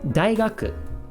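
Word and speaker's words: 大学: In this case, pronounced dai, although it can be pronounced several different ways depending on the word.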